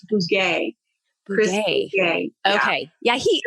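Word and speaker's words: Bugaj: It's Bouguet.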